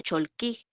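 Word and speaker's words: Cholq'ij: pero los mayas dicen que en realidad se pronuncia cholkig y ellos más que un calendario dicen que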